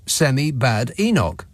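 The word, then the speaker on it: Kemi Badenoch: It's Kem Badinog. Oh, you've forgotten about her, right? It's easy to remember. Chem looks like Semi and then just split her last name by syllables. Semi bad Enoch.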